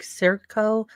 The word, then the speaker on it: Scioto: yeah, they pronounce it with an S almost, so it's like Circo.